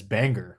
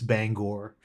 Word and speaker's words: Bangor: And when I first went up there, I pronounced it as Bangor, which is a lot of people pronounce it that way. And the first thing that they tell you is, no, it's Bangor.